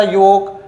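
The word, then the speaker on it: yolk: यहां यहां देखिए एल के बाद के आया तो एल क्या है? साइलेंट है। क्या हो जाएगा? योक टॉक वॉक चॉक। है ना? चॉक वॉक, टॉक, योक। एल को हम लोग साइलेंट रख रहे हैं।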